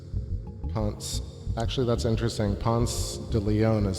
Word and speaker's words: Pensée: Ponce de Leon is spelled that way, but I think this is spelled P-E-N-S-E-E, Ponce. And I think in French it's P-E-N-S-E-R is to think. So it's like a journal of science, I believe. Ponce. Penser, to think, right? So that's the intro from Pensée.